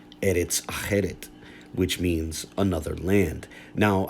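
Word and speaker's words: ארץ אחרת: transliteration of a Hebrew phrase which is now pronounced Eretz Acheret, which means another land.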